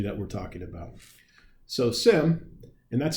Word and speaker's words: SIEM: So, SIM, and that's how we pronounce it here, SIM, almost as if the E is silent, uh, is at its source a log monitoring technology.